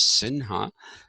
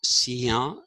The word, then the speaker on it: Sinha: And in Maharashtra, actually it is, they don't pronounce that as Sinha, they pronounce it as Sia. That is how they pronounce it. Sia is how they pronounce